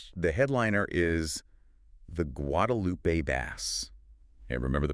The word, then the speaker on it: Guadalupe bass: The headliner is the Guadalupe bass. And remember the pronunciation guide. Wadupoo. You got it. And bass rhymes with class.